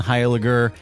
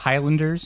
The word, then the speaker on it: Heiliger: I'm really glad you pronounced my name correctly. Did I? I nailed it. It's a tough one. I get a lot of Highlanders and Heiligers.